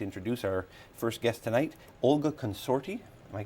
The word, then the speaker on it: Olga Consorti: I'd like to introduce our first guest tonight, Olga Consorti. Am I pronouncing that right?